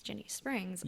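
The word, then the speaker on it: Ginnie Springs: know how to pronounce jenny springs i thought it was guinea like a guinea pig guinea guinea so i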